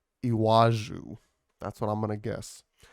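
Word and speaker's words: Iwájú: it's Lagos Nigeria um it's IW and then there's an a with an accent and then a j and then a u with an accent iwaju that's what I'm gonna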